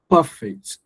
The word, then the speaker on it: perfect: So when it functions at an adjective, when it functions at an adjective, you you you stress the first syllable. Perfect.